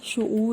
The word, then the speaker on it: شعور: الفاظ ہیں شعور، شعور، ہم اکثر شعور بولتے ہیں، نہیں ہے، شعور ہے یہ۔ رسائی، معدنیات، معدنیات نہیں